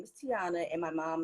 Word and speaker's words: Teyona: So at the panel, I was like, hey, my name's pronounced Teyona, not Teyona or whatever she said.